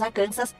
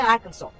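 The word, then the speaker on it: Arkansas: Embora em português falamos arcansas, aqui nos Estados Unidos a pronúncia é Arkansol, um estado que tem rios e nascentes de águas termais que formam lindas paisagens.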